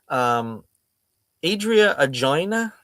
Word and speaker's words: Adria Arjona: Adria Arjona. Is that how it's pronounced?